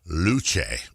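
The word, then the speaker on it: Luce: Okay, I believe because it's Italian, it's pronounced the Ferrari Luche.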